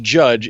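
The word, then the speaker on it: Jydge: title of this game it is it is pronounced judge it is spelled JY d je which makes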